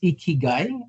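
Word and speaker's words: 生き甲斐: It's pronounced as ikigai, Ikigai.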